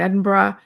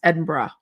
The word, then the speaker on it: Edinburgh: Cuz u afternoon tea at the Balmoral in Edinburgh and some other things.